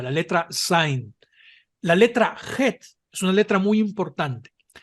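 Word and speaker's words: חֵית: La letra Het es una letra muy importante porque se confunde con la Hei tanto en pronunciación como en su escritura. La Het es idéntica a la J española en sonido.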